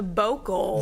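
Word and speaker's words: bocal: The vocal. The vocal. Vocal. How do you spell that?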